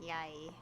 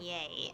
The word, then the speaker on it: Yae: Okay, so apparently the lady's name is pronounced Yae. Yae? Because I keep saying yay, and I'm like, that doesn't sound right every single time I say it.